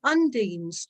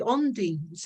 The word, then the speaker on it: undine: For example, the elementals called the of water, the Fae of the water, are the undines or the ondines. It depends how you pronounce them.